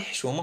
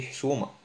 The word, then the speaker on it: حشومة: حشومة, on dit pas le حشومة, on dit حشومة.